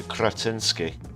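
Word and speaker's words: Křetínský: Fun fact, the R in Kretinsky has a little accent over it, which makes it one of the rarest and hardest to pronounce sounds in the world.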